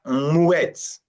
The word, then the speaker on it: muet: We have muet, right? Muet. The air and the u together, muet, the same syllable, muet.